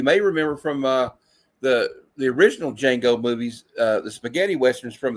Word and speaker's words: Django: Yeah, the D is silent in Django.